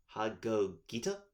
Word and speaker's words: Hagogita: 1 Borreload Savage Dragon, and 1 High Speedroid Hagogita?